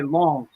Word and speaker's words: Lens: I say long. It's yeah, Long. Yes. It's not Nantes. It's long. yeah, Man, I'm bad Lyon.